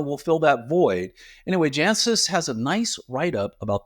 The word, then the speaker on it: Jancis: And then Jancis Robinson, yes, I pronounced it right this time, so don't write to me.